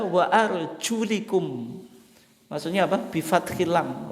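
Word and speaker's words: وَأَرْجُلِكُمْ: Membacanya itu bukan wa arjulakum, lakum wa arjulakum. Lamnya itu difathahkan, bi fathil lam. Tidak sebagaimana umum yang ada dalam mushaf kita, tapi dibaca wa arjulikum.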